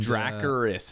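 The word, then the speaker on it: Dracarys: it from Allison and dracaris is how you pronounce it don't care what they're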